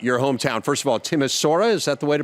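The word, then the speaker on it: Timișoara: First of all, Timasura, is that the way to pronounce it? Timishwara. Okay. Timishwara.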